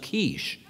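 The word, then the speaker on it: quiche: It's pronounced kiche.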